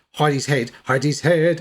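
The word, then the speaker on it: Hedi's Head: Um, and uh I've always I mean it's pronounced Heidi's head.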